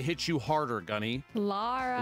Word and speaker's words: Lara: you hard harder gunny Lara laraa Lara Lara Croft not Laura Croft laara laara La she